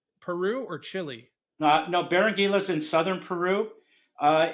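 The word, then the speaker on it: Berenguela: And uh so you're talking about this uh Barangula. Is that how you say it? Barangila. It took me a couple months. Barangila.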